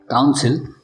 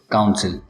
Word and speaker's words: council: काउंसिल, काउंसिल, दोनों words के pronunciation same है।